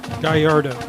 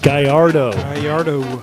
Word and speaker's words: Gallardo: is a sophomore and the pronunciation of his name ken gallardo gallardo so that is number 40 joden